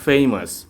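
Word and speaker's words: famous: তারপরে ফেমাস, আমরা বলতাম ফেমাস, কিন্তু এটা হবে ফেমাস। সাধারণত দেখুন, এই যে কনসোনেন্টের পরে এ থাকলে এটা রস্যই কারের মতো উচ্চারণ হবে। ফেমাস মানে বিখ্যাত।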